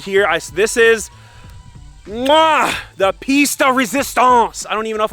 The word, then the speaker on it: pièce de résistance: Pièce de résistance. Pièce de résistance with the typical French pronunciation, but in English or American it would usually be pronounced pièce de résistance.